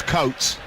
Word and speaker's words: Coates: His granddad was English. It's Coates.